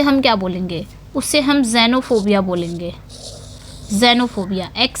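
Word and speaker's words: xenophobia: डर हो उसे हम क्या बोलेंगे उसे हम जेनोफोबिया बोलेंगे जेनोफोबिया एक् से एक् से याद आए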